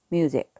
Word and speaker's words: music: 그 다음에 I, sick, music 이렇게 되는 거죠. 예전에 아주 예전에 제가 아이들 가르칠 때 애들이 무식인데 왜 뮤직이라고 읽느냐 그렇게 물어보곤 했었어요. S 양쪽에 모음이 있어서 그래요.